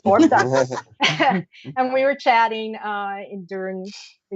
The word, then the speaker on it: Orbducted: I want to say Orbstructed, but it's Orbducted.